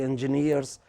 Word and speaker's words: engineer: You guys are going to be engineers, and if you don't pronounce the name of your own profession right, what impression would you give to the others?